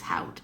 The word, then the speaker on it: haute: I can't really read, Haute. so you know. You did it. Yep, it's called haute. My other guess was haute, but I felt like that was wrong.